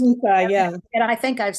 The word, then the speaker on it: Mucha: It reminds me of also Alphonse Mucha's work, his paintings, if you're familiar with him.